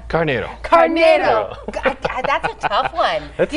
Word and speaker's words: Carneiro: Carneiro.